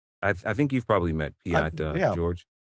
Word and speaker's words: Piotr: I think you've probably met Piat, George. Is it Piat or Piotr? Piotr, something like that? It's spelled like that, but it's pronounced Piat.